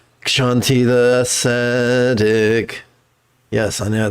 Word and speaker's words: Kshanti: Kshanti the ascetic. Yes, I know. There should be an H here. Ksh is a sound you make when your boot steps in the snow.